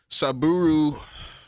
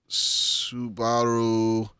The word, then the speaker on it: Subaru: We're gonna go Saburo. Fucking. This is Japanese pronunciation. They put the emphasis on a different syllable. Yeah. So Saburo. it's Subaru.